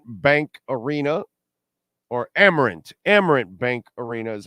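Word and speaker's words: Amerant: of course black crows is opening up at aarant bank arena or amarant amarant Bank Arena is how it's pronounced also on October 20th that Friday the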